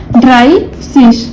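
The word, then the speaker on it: dreißig: मैंने बताया था ये बीटा है, और बीटा कब यूज करते हैं, जब डबल एस आता है, तो इसलिए इसका प्रोनाउंसिएशन क्या होगा, ड्राई सिश, ठीक है।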